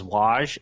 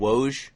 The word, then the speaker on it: Woj: I forget who said it, but I think it was Waj said that what was what they've learned from this series is that... You mean Woj?